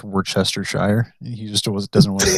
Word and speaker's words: Worcestershire: I mean, he's more in the wrong because it's actually pronounced Worcestershire.